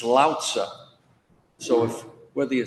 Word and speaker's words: Lao Tzu: When you pronounce his name, all the stress is on the first syllable. It's Lao Tzu.